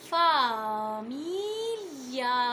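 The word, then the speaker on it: famiglia: وكمان عندي الجي لو جه وراها ال اي بنطقها لي لي، ما بقولش لي لي كده ال اي، لكن بقول لي لي، بتحس ان كده لسانك جه في الجنب شويه لي، زي لما اقول فاميليا فاميليا، او زي ما جت في المقاطع فاليا فاليا.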